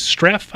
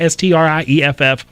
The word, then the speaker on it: Strieff: It's Utah versus Streff, I think you pronounce it, Strieff.